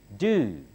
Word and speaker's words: do: Do. D is not pronounced as our duh. The tongue touches the upper gum behind the upper teeth.